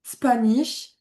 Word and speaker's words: Spanish: Spanish, passions. Le A, il va vraiment se prononcer E. Passions, Spanish. Tu vois, il n'est pas aussi grave qu'en français.